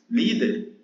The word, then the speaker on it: líder: Líder é uma paroxítona. O que é uma paroxítona? É a palavra que tem a penúltima sílaba tônica, né?